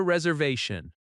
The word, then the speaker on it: reservation: You say, "I have a reservation." Stress reservation naturally on the third syllable.